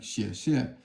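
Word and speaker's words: 谢: And like Xie means thank you. It's all fourth tone.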